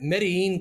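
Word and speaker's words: Medellín: Medellin, Colombia, mine.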